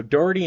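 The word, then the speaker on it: Dougherty: pronounce there um um Doherty is that how it is yeah Doherty dirty I finally got it so Doherty and Mitchell counties that's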